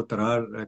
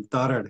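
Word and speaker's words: تارڑ: Actually यहाँ पर हम इसको तरार कहते हैं लेकिन तारड़ है सही इसकी प्रोनाउंसिएशन, तो माफी चाहता हूँ मैं। वो जरा सा यहाँ की लैंग्वेज में जो है वो इस तरीके से इसकी प्रोनाउंसिएशन बनती है, तो माफी चाहता हूँ मैं। लेकिन तारड़ सही लफ्ज है।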